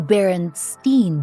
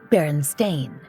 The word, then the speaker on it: Berenstain: of this well for many of us the baron Steen bears are the Beloved characters of our youth